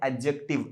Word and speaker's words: adjective: तो फोकस यहाँ कीजिए, यहाँ पे फोकस कीजिए, आपके एडजेक्टिव को क्या कहते हैं, एडजेक्टिव, डी आपने प्रोनाउंस नहीं करना है।